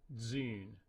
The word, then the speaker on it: d'une: It's spelled D'-U-N-E. In French, that would be pronounced dune, but he wants this one word pronounced in Haitian Creole, and that's going to be dzune, dzune.